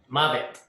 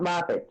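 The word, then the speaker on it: מוות: Mavet. Not Moffat, Joe. Mabet.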